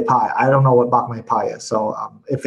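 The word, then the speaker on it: Bak Mei Pai: So Vladimir says, hi, has Sifu had any experience with Bak Me Pei? If so, can you share some advice? Bak Me Pai. P-A-I is pie. Pie. Okay, so pie instead of pay.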